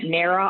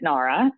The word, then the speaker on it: Nara: a big one we we get narrow all the time that we do pronounced at Nara and we also get